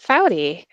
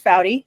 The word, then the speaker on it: Foughty: Geospatial Risk Summit and I'm joined by Faudy. hi. Welcome. Hey, thank you. Excited to be here. Thanks. I'll have you introduce yourself. Excellent. Um, yeah. So, as Priscilla mentioned, I'm Faudy.